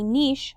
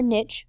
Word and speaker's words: niche: where an organism lives a niche or niche both pronunciations are acceptable is the role or